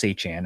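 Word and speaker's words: Etienne: You got Travisenne or Travis Han I should say now that we know how to pronounce it.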